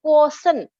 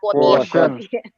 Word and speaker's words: quotient: Nah, quotient itu dibacanya quotient. Coba bareng-bareng. Quotient. Nah, jadi emotional quotient, jangan quotient. Quotient.